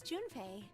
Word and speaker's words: Junpei: His name is Junpei.